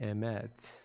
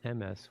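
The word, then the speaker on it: אמת: The last word of the Shema is the word emet, sometimes pronounced emes, which means true or truth.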